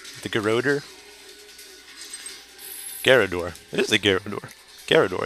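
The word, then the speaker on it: Garrador: feel like I'm saying it wrong the geroder garador it is a gyarador garador yes and of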